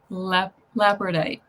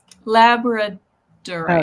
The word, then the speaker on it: Labradorite: Yeah, labradite. lap. I know I'm not saying it right. How did it said that? Labradorite.